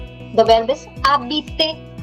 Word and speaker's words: habiter: The verb that we are studying is called habiter. The verb is habiter, not habiter, because ash is never pronounced.